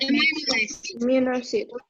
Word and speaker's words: amino acid: Then, any of chemical substances found in plants or animals that Amino acid. Yeah, listen very carefully. It's amino acid. Yeah, so you put the stress on the first, amino acid.